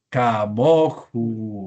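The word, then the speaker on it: כמוהו: Ya tenemos una Holem ahí. Entonces no podríamos decir como o, no sería posible. Entonces decimos, ¿cómo decimos? Camoju. Muy bien.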